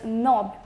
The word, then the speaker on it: knob: word we have is knob the knob is generally we refer to the handle of the door as a knob the next is not K and ot without the pronunciation of K next is knuckle and